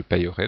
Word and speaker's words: payerai: I lorsqu'il y a un E muet, donc ici le E n'est pas prononcé, je paierai ou je payerai, donc on peut avoir les deux prononciations.